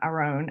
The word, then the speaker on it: Aarón: I mean, there's many, versions, but he does, take a lot of pride being Mexican, and he does pronounce his name Aaron. I can't roll my R's.